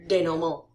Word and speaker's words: denouement: you can see this, but your denouement. That's how they say it is French.